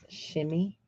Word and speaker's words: chemise: Shimmy. I know it's spelled chemise, but I think it said shimmy.